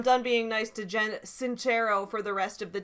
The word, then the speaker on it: Sincero: made on this woman i have pronounced her name like jen cincero her name is actually jen sincero i pronounced it wrong it is italian somebody corrected me in